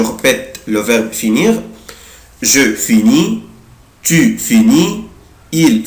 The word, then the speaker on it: finis: je prononce pas، انا مش بنطق لا لتر اس ولا لتر تي، انا مش بنطق لا الاس ولا تي، يعني اي اس اي اس اي تي مش بنطق. je finis، tu finis، il finit، elle finit.